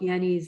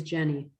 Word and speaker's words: Jenny: His last name is Jenny. Oh, Yeah, Rudolf Jenny. And he, which he might pronounce like a Y, but it's called the Swiss Orchid Foundation, and his database is called Litbull, Litbul.